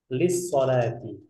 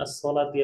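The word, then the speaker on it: للصلاة: Limadza anta musafirun ila Makkah lis salati. Sebentar. Ini perlu untuk digarisbawahi karena banyak yang bacanya as-salati langsung. Padahal di sini ada huruf lam.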